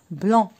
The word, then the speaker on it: blanc: Alors, regardez, un cheveu blanc.